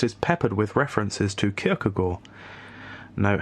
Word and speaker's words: Kierkegaard: Instead, long passages are drawn from Luther or Calvin, and the text is peppered with references to Kierkegaard. Note how I pronounced it right there.